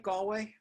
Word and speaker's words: Galway: ireland and you wanna did i say that right galway you sure did okay did james galway